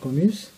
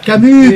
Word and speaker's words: Camus: Il y a le 26 octobre, porte ouverte, médiathèque Albert Camus. Camus, je prononce mal. Camus, pardon.